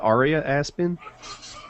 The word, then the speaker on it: Aria Aspen: Is it pronounced Aria Aspen? Yes. A-R-I-A?